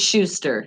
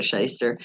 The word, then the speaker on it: Schuster: you Erin r scheister but it's Schuster no I know how to say his name is Schuster he's not a sheister Schuster but the way it's spelled though it confuses the crap out